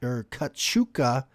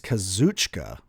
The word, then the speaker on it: Kazuchika: old Daniel Garcia and Kachuka. I always say his fucking name wrong, and I feel bad. I think it's Kazuchika, actually.